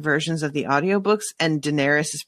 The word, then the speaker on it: Daenerys: of the audiobooks and daenerys is pronounced completely differently in both of them which has led to fights between me and miles because he says it dangerous which is ridiculous and wrong and he needs to